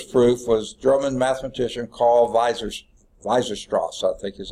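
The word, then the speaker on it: Weierstrass: provide a rigorous proof was German mathematician Carl Weiser-Strauss, I think is how you pronounce it.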